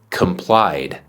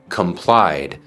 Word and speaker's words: complied: pronunciar la e d entonces decimos complied complied no se dice comply decimos complied por ejemplo él cumplió